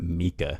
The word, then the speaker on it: Micah: __ ] okay footage Micah and Katie is that right I know it immediately okay yeah right okay I think they pronounce it Mika in the movie and that always threw